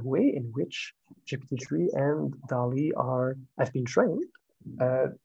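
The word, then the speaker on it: DALL-E: gp3 and down e and Dali this is pronounce that way uh which yeah have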